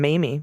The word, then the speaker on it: Mamie: All right, first up from Mamie, rhymes with Amy.